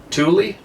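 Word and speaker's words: Tooele: in Stockton Utah located south of the tool Tuli t-o-o-e-l-e sorry you guys my father would often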